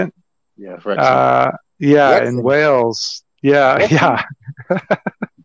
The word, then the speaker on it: Wrexham: Yeah, Wrexham.